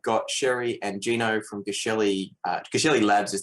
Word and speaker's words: Geshelli: yeah and so so it's a soft g everybody always says the hard g like it's actually ja shelly like just shelley but so many people